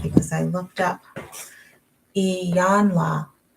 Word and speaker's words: Iyanla: because I looked up Iyanla. Long E, yawn, like you yawn when you get tired. La.